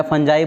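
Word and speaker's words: fungi: Pronunciation थोड़ा सा difference हो सकता है, कभी काल कुछ लोग फंगी बोलते हैं, मैं फंजाई बोलता हूँ, बाकी चीज़ वही है, फंगस।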